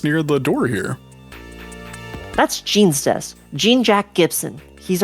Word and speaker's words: Gene: That's Gene's desk. Gene Jack Gibson. He's our ace runner. I think it's pronounced John in this game.